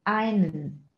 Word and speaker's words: einen: Das E wird wieder verschluckt und wir sagen einen, einen, einen.